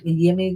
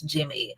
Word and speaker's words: Jimmy: And then apparently the pronunciation, it's not Yimmy Garcia, it's Jimmy.